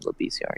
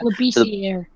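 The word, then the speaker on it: Labissière: I believe that's how you pronounce the name, Labissiere. Yeah. Labissiere.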